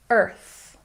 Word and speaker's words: Earth: Don't forget the TH sound. Stick your tongue between your teeth. Earth. Very good.